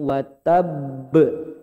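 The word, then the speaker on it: وَتَبَّ: Nah, kalau besar, cara pengucapan yang tepat ditahan dulu baru dipantul. Tabbat yada abi lahabiu wa tab.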